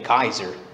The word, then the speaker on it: Caesar: This is just another interesting thing with Caesar. Did you realize that that may not be the original pronunciation of Caesar? Many think, the linguists think it may have been Kaiser, the original way to pronounce Caesar.